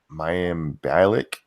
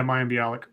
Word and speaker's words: Mayim Bialik: I don't know how to say her name my am Balak legit yeah Mayim Bialik there we go Instagram meltdown where she has